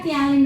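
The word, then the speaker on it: ptialin: Pernah kan bacanya P-nya enggak usah dibaca ya tialin aja ya.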